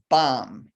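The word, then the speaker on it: bam: how we experience her color wise the seed syllable is bomb b-a-m the direction is the center so you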